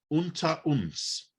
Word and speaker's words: Unter uns: Lindenstrasse or Unter uns?